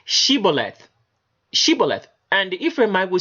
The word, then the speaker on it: Shibboleth: It says they would tell the Ephraimite, say Shibboleth, and he would say Sibboleth, for he could not frame to pronounce it right.